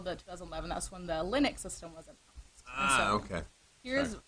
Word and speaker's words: Linux: I'm sorry, I mispronounced She watches Linus. it. She's been watching too much Linus Tech Talk. Linux.